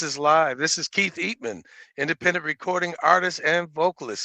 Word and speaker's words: Eatmon: So the correct pronunciation of your last name is Eatmon.